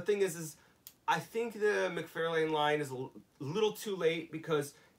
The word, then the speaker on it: McFarlane: I got so much shit for mispronouncing McFarlane. I said McFarlane, and I got so much shit on an episode from people.